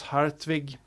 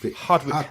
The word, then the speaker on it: Hartwig: or in Scandinavia, Hans Hartwig. I think so. Those are my three. Yeah, Hartwig. It sounds kind of strange when you say it in English. It's no R, right? It's hot. Hartwig.